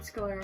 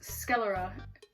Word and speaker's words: sclera: no way I'm wearing scolar contacts that's not how it said is it it's sclera um I don't know